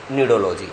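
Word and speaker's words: cnidology: लेकिन आप तब कंफ्यूज होते हैं जब हम लोग चैप्टर पढ़ाते हैं एनिमल किंगडम, वहां पे एक वर्ड आता है, इट is also pronounced as नीडोलॉजी।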